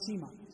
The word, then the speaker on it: Shayma: Some say Shayma, another way to pronounce it is Shima, but both of those are correct pronunciations.